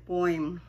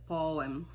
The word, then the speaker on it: poem: Hindi po yan poem. Yan po ay poem.